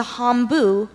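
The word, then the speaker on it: hambo: sentence please sure Joel learned to dance the hombu when he visited relatives in Sweden hombu are there any alternate pronunciations I just have hombu hombu I'm blue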